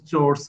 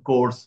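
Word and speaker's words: chores: আমার সিক্স এর বাচ্চারা বললো যে আমাদের রাজুকেরই বাংলা ভার্সনের একজন ম্যাডাম হাউস হোল্ড চোর্স কে হাউস হোল্ড কোর্স উচ্চারণ করছে।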